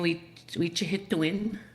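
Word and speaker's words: wîcihitowin: You're saying we hit to win. We hit to win. We hit to win. It is spelled W-I-Macron, C-I-H-I-T-O-W-I-N.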